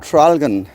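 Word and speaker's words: Traralgon: It's called Tralgan.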